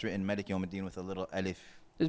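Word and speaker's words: مالك يوم الدين: But the reason why it's written Malik Yawm al-Din with a little alif is because sometimes the alif is not pronounced.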